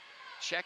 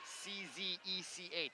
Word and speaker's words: Czech: Czech, Czech, just like Czechoslovakia.